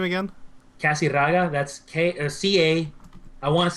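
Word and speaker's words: Casirraga: Casiraga, that's C-A, I want to say 1S, might be 2, but whatever, we'll go with 1.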